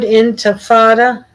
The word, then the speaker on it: intifada: The word intifada, Arabic, intifada, it's pronounced basically the same, means quote unquote resistance.